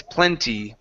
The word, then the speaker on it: plenty: Okay, make that E sound come out instead of plenty. It's plenty. Plenty of times. Plenty of times. Teacher, Plenty. Yes. sometimes people don't pronounce the T. Okay. Have you heard the plenty? I've heard plenty, yes, but the issue is when you don't pronounce the e at the end of this of the word.